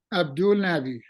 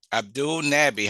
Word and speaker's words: Abdulnabi: line with me nahi Abdul how do you pronunciate your last name Abdul Nabi Abdul Nabi how are you today I am doing great